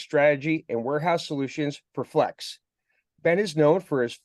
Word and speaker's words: Flexe: Um the most important thing about Flex is that the second E is silent. So, just Flex.